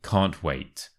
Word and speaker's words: can't wait: me final pronunciation tips firstly make sure to stress the word wait and secondly the can't and the wait kind of merge together I can't wait I can't wait I